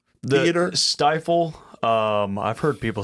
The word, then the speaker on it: Stifel: up for Bailey Zimmerman at is do you pronounce it the Stifle? Stifle.